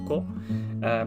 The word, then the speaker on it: 子: that feature this kanji so the kanji by itself is just pronounced as ko whereas if you want